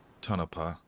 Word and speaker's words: Tonopah: And uh winds are light in um Tonopah. That's actually how you pronounce it.